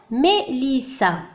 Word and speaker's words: Mélissa: نضيف هذه العلامة إلى الحرف E فينطق A. d'accord ليس I وإنما A.